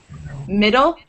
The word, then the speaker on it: middle: middle no you have you say the D in Middle you wouldn't say middle like over pronounce the two D's mid still you wouldn't say it like that it's just the two D's turn into one middle any other D questions